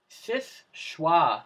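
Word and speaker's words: Seul Choix: number 8 would go to a lighthouse the SIS choix lighthouse that's how it's pronounced hey sprouts is schwa French it's near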